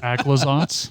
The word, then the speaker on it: Aclazotz: Also, I think it's pronounced Aclazotz?